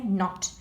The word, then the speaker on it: knot: In knot, the kicking k is silent. We don't say knot, we say knot.